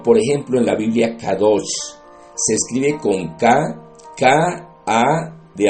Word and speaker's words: Kadosh: Estas no necesariamente fueron las palabras del Señor Jesucristo, pero podemos mirarlo, por ejemplo, en la Biblia Kadosh. Se escribe con K-A de amor, D de dedo, O de oso, S de saco y H.